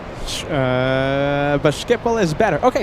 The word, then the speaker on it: Schiphol: Okay, DutchPlaneSeeker says, you said uh but Schiphol is better. Okay, Schiphol, yeah.